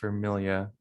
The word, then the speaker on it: Vermilia: it's pronounced Vermilia. Oh, okay. So pretty much Yeah, like family and exactly.